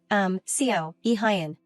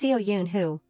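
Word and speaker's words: Seo Yoonho: Yu Jong tried to choose her words to verify, Seo, Hyun. He irritably corrected her, "No, it's Seo Yoon who, damn it, don't get my name wrong again."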